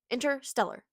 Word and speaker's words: Interstellar: I've been saying it wrong a little bit, I think, because I keep saying interstellar, but it's I'm I'm like skipping the tease. It's Interstellar. I rate it a seven out of 10.